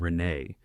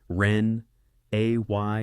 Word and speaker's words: Renee: He had a house with a 2-car garage and a wife named Renee, who made a point of correcting the way I said her name at Thanksgiving. Ren, A-Y, not Ren-E-E.